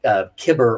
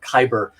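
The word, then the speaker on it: Cibber: actors, like the famous actress Susanna Kibber or Khyber. People pronounce her name differently.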